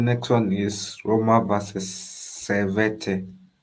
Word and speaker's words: Servette: So the next one is Roma versus Servette. Did I pronounce it nicely? Yeah, Servette. Yeah, Servette.